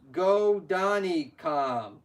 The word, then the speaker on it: Godanikam: His name is pronounced Godanikam. Sorry about that, host.